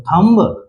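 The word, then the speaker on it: thumb: और यू है बीच में तो गायब है और एम का उच्चारण म से और बी का उच्चारण ब से तो थंब ऐसे बोलेंगे नहीं ये गलत है क्या बताया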